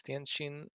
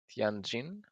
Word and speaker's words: Tianjin: Yeah, it's actually it's Tianjin or Tianjin.